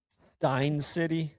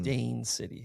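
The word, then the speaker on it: Steyn City: I said Stein City, South Africa. It's Mm. Stain City, South Africa.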